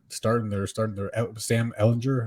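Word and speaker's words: Ehlinger: world beater but starting they're starting their Sam Ellinger how do you say his last name yeah hellinger from Texas I want to hear Steve on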